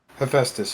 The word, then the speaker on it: Hephaestus: my end here say how you say it hephaestus yes i believe that's i must say that's